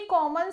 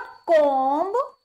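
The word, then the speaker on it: comb: लेकिन इसके प्रोनाउंसिएशन के लिए मैंने स्पेशली इसको डाला है, ये है जी हमारे पास कॉम, नॉट कॉम्ब, कॉम्ब नहीं होता, ये है कॉम, सिर्फ म, इसमें बी क्या है, साइलेंट।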